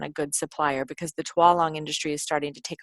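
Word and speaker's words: Tualang: how to get quality Twang and I think it's PR twong um and i' I've been been saying it wrong for a while but go on Amazon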